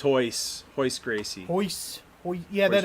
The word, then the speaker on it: Royce: so then Oh, if it's Derek pronounced Hoyce.